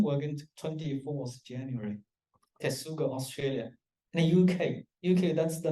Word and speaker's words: K8SUG: And also we're going to have a K8SUG So if you don't know how to pronounce it, K8SUG, Kubernetes User Group, I say the K8SUG, okay?